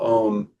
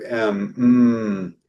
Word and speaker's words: Om: And that's you know you mentioned uh the the sacred syllable m well really is a u m in Sanskrit.